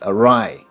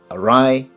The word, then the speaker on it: awry: number two is awry be careful of the pronunciation it looks a bit like ori but it's awry awry awry here's the sentence our